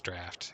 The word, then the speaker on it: draught: I used to call it gem draught, and now I know draught is draft. It's just, you know, spelled like dry.